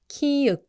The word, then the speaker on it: 키읔: Because there is another consonant that sounds like a strong and clear K, and that's kiuk. K is stronger and aspirated, meaning you release more air.